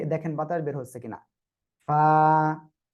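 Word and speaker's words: فاء: Simple ফয় আকারে ফা, just বাতাসটা বের করতে হবে আমাদের। ক্লিয়ার?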